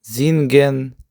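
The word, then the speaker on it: singen: Наступна буква С, яка утворює перед голосними звук З. наприклад, зінген, золен, зіцен. А у всіх інших випадках буква С буде утворювати звук С. Наприклад, канст, махст, вас, das.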